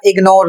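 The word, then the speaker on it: ignore: तो यहां पर देखिए जी का जो उच्चारण हो रहा है वह ग के रूप में हो रहा है और दूसरा शब्द है इग्नोरेंस यहां यहां पर भी ग का उच्चारण हो रहा है।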